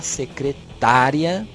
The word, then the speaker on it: secretária: A mesma palavra que eu digo foneticamente não. É graficamente dizendo. Foneticamente, ela é totalmente diferente. Secretária, secretaria.